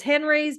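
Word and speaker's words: Henri's: eat lunch in Atlanta, Henry's. I pronounce it and she laughs at me. It's Henry's, but with an I, and it's French. But they have great, Henry's.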